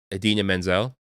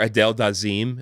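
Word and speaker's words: Idina Menzel: other one is uh Adena Menzel or Adel daim as as John travolto famously called her she was the voice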